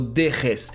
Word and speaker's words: dejes: I believe the famous Spanish Jota should be way harder. No dejes.